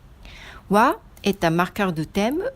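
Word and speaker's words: は: La particule wa, ça s'écrit en hiragana ha, mais on le prononce comme wa.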